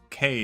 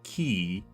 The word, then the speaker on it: quay: Apparently, Q U A Y is actually Well, there's a few different ways to pronounce it. K is not one of them. It's actually key. Oh, no. K is one of them.